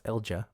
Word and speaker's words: Elcga: Elcha, and her name is spelled E L C A, which is a weird way to pronounce Elja, but when you start